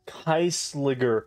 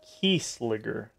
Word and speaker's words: Kieselguhr: Kieselguhr powder to stabilize the Kermes fire and a fuse. No. Brilliant work, Spellbinder. Let's mix it up. It's Kieselguhr powder, not Kieselguhr.